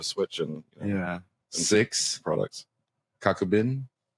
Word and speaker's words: Kakubin: and yeah six products Coco bin you said it right kakubin what I have no